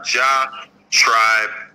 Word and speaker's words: Elyjah Tribe: my Instagram it's spelled with a little instead of an eye so e l y j h like ja tribe all one word um